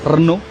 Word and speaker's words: Renault: And they say Renault. Renault. It is pronounced Renault.